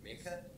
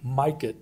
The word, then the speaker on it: Mikett: Next we have. Good afternoon, Board. My name is Peter Mikett, so you pronounce it, and I'm a come to you as a tax-paying citizen.